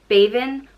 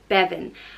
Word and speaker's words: Bébinn: goddess of childbirth, and it can either be pronounced Bébinn, or Bébinn. And I think that just depends again on where in Ireland you're from.